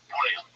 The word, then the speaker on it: Bouillon: man called Godfrey of Bouillon. I think that's how you pronounce it. It's with two L's in English, but I think in French it's Bouillon. I think you swallow the L's. Bouillon.